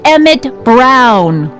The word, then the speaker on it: Emmett Brown: That's Emmett Brown. Rhymes with clown, which I'm beginning to think you are.